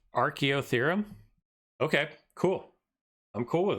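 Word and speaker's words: Archaeotherium: yet I want to show you guys it's pronounced archeo theorem okay cool I'm cool with that let me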